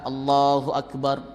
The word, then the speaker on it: Allahu Akbar: Panjang takbir yang benar itu ya cuman 2 ketukan. Allahu Akbar, tuk-tuk ini. 2 ketukan itu 1 alif atau 2 harakat.